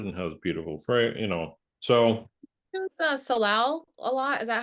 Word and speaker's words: salal: And that's because it flowers and has beautiful So Use salal a lot.